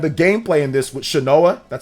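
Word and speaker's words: Shanoa: play it and the gameplay in this with shinoa that's how you say her name is so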